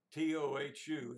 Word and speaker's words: tohu: That sounds kind of funny, but T-O-H-U is the English spelling, and it's pronounced tohu.